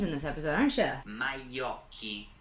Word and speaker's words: Majocchi: captured by Jean Alessandro Majoshi. You're gonna make me pronounce names in this episode, aren't you? Majocchi. Wow, that's not how I was saying that.